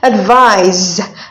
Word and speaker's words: advise: So advice is a noun, and we have advise. Advise is a verb. Take note of the Z and the pronunciation. The first one is advice. The other is advise.